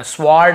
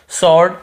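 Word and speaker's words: sword: वो अलग चीज है लेकिन यहां हमको डब्लू को नहीं पढ़ना स्वर्ड ऐसे नहीं पढ़ना है व को नहीं पढ़ना है केवल सॉर्ट ऐसे पढ़ना है हमें क्लियर हो गया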